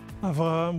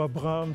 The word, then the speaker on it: Avraham: Avraham ou Abraham, ça dépend. On Ok. peut prononcer avec un B ou Un B ou un V, ok. En hébreu, c'est la même lettre.